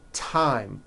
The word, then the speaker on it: thyme: spelled with a TH, they are pronounced as if they were spelled with a normal T, like that. And these words are Thomas, Thompson, Teresa, Thailand, Thames, like the river, Esther, and thyme, which is a spice.